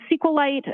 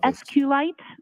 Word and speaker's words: SQLite: how is that spelled it is capital SQL lowercase i t and sqlite uh is also SQ light so both pronunciations are acceptable Brandy Church talked about